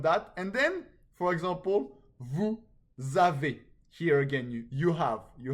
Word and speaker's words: vous avez: So the S in vous is pronounced when followed by a vowel sound.